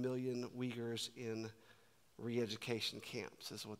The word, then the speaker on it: Uyghur: I believe it is pronounced the Uyghur people.